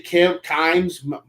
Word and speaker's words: Kimes: I saw Mia Kimes is how you say her last name, I think. Yes, Kimes.